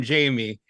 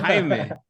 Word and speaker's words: Jaime: They keep calling him Jamie, and they're like, "Oh, it's Yeah, Jaime."